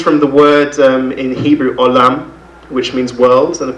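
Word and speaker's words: עולם: Oilem comes from the word in Hebrew, olam, which means world, and of course oilem is the Ashkenazi pronunciation of it.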